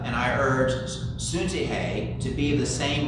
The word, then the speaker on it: Syntyche: It says, I urge Euda and I urge Suntihe to be of the same mind in the Lord. We could also do the English pronunciation, Euda or Syntyche, to be of the same mind in the Lord.